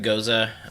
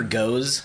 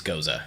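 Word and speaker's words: Gose: Yeah, you'll hear goes a lot. That's what I heard. Technically, it's goza. Goza. So I'm gonna be super anybody's smart right ever wondered how to say that word, it's goza.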